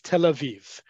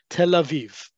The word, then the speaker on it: Tel Aviv: largest city Tel Aviv in modern Hebrew it's Tel Aviv that yud between the two vets indicates a long e sound Tel Aviv many Brits many um